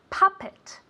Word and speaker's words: puppet: say this very good puppet puppet with an accent in the first syllable okay puppet as if it were really with an a repeat very good now